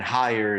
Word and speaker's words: Heyer: And higher is spelled Heyer. It's Kevin Higher.